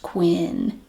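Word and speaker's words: Kwyn'ne: make you so unique k w y n apostrophe n e Quinn pronounced Quinn but it will look like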